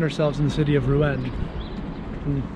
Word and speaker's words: Rouen: We now find ourselves in the city of Rouen. That may not be the exact way to pronounce it, but it's the Americanized way, so sticking with it.